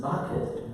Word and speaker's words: Bucket: Bucket, but Mrs. Bucket preferred to pronounce it Bouquet, to keep up the appearance that she's refined and high class and so forth.